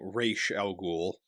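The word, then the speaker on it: Ra's al Ghul: they call it and they pronounce it differently they they call him rachel and so in the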